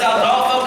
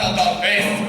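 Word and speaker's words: Aldolpho: No, not Adolfo, Adolfo. You must remember my name for when we are making love and you are screaming it. You must say it correctly or it will ruin everything.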